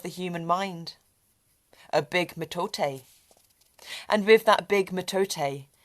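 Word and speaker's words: mitote: the Toltec scored a metate we got it right pronounced metate of course you did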